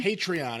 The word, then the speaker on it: Patreon: Is that the way you pronounce it? Patreon? Patreon.